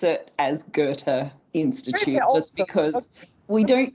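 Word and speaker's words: Goethe: gy Institute okay so in English we do pronounce it as good Gerta Institute just because we don't usually change the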